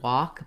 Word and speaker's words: walk: the Ah sound, and many people ask about the word walk because of the silent L and some challenges there.